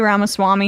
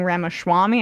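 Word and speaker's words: Ramaswamy: debate uh I guess Trump and VI uh rhymes with cake ramaswami have a bit of a bromance Brewing he's he can't say ramas Swami he's been saying ramaswami I'm not sure if he does that in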